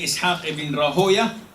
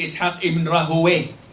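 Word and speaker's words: Ishaq ibn Rahwayh: You can say Ishaq ibn Rahoya, and you can say Ishaq ibn Rahowe, like Sibawe or Siboya.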